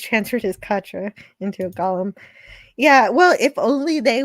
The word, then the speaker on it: golem: But no, it's golem. You know, like the Golem of Prague, an animated man.